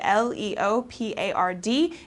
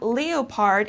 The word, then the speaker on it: leopard: Danny says okay leopard l e o p a r d it's not leopard it's leopard okay so this is an